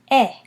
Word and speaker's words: et: And then we have eh. Eh, again, silent T at the end.